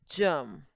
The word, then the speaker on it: germ: And the word will be pronounced as germ. Because E is there. So the G is going to make the soft sound that is J.